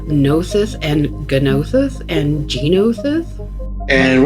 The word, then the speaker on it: Gnosis: And then when it comes to the battle cruiser, I am definitely a Gnosis, silent G kind of guy.